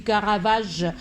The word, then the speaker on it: Caravage: Je ne sais pas pourquoi, mais je veux toujours prononcer le Caravac. Peut-être il y a aussi ce type de prononciation, mais puisque j'ai jamais entendu de prononcer ce mot en français par des Français, je dis Caravage, le Caravage comme le dictionnaire le dit.